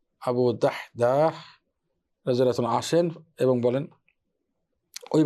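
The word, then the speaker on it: أبو الدحداح: সাল্লাল্লাহু আলাইহি ওয়া সাল্লাম আবু দাদাহু আবু দাহদাহ আবু দাহদা উচ্চারণটা কঠিন দাল হা সকুন দাল আলিফ হা আবু দাহদাহ রাদি আসেন এবং বলেন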